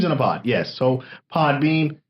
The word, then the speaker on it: Podbean: Podbean. Yes. I may be saying it wrong, so people are going to put Podbean with the M. No, it's the N, like a bean, like you would eat.